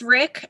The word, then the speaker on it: Rik: And it is pronounced Rick.